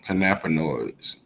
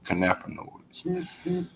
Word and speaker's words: cannabinoids: canon aka oh well kanapa noise aka ken and now i remember how to pronounce it kanapanoids and turpins turpins of characteristics